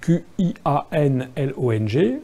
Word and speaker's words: Qianlong: Ça s'écrit Q-I-A-N-L-O-N-G, hein, ça se prononce Qianlong.